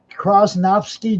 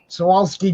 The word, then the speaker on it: Swarovski: What are the Krosnovsky jewels? I never say it right, but Swarovski jewels.